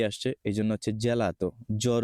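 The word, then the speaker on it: gelato: দেখি চি এর পরে এ আসছে এজন্য হচ্ছে জেলাতো জ্বর উচ্চারণ ওকে আমি চেষ্টা করছি একদম সহজভাবে বোঝানোর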